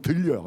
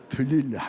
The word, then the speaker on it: 들릴라: 들릴 발음을 잘해야 돼요. 잘못하면 들려. 이렇게 들릴라 이렇게 그 들릴라고 하는 이름의 뜻이 뭐냐?